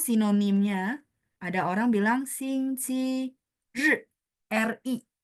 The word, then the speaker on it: 日: 星期天 atau sinonimnya ada orang bilang 星期日, RI. Bacanya 日, nada 4. 星期日. Ditekan ya, 日, nada 4 ya.